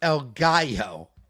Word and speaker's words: El Gallo: It's pronounced El Gallo. El Gallo.